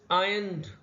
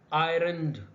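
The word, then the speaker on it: ironed: आयरन भी है, तो एक बात याद रखिएगा कि इंग्लिश में आयरन जो होता है उसमें आर साइलेंट होता है, यानी आर हम प्रोनाउंस नहीं करते, तो ये आयरन नहीं होता, ये आयन होता है। तो आर क्लोज आयन्ड, नॉट आयरन्ड। ये भी एक प्रोनाउंसिएशन टिप ले लें, ट्रांसलेशन की ही वीडियो में एक्स्ट्रा बोनस समझ लें आप इससे अपना, ठीक है। Are close आयन्ड, नॉट आयरन्ड। आर जो है वो यहां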